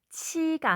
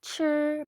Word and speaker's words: 吃: 자, 여러분 발음하실 때, 자, 아이 발음이 발음이 나도록 잘 해주셔야 되겠습니다. 치가 아니라 출 발음이 나죠?